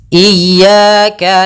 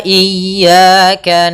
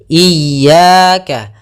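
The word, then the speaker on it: إِيَّاكَ: kita ulang iyaka iyaka ada dua kesalahan yang sering terjadi dalam pelafalan iyaka yang pertama memanjangkan I memanjangkan memanjangkan I apabila dipanjangkan huruf i-nya banak contoh iyaka salah karena dia memanjangkan yang kedua adalah menahan iaka itu salah juga usnya dia cukup menekan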